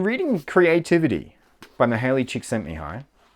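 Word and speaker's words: Csikszentmihalyi: creativity by the Hayley chick sent me high which is the last that is the pronunciation of his name that I remember from the last presentation I saw that was around his work uh and I just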